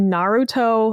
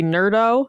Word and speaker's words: Naruto: You can't trust anything because in the Naruto official games, they say his name wrong. And like, they don't even, it's not even like they're saying Naruto. They literally say Nerdo at one point.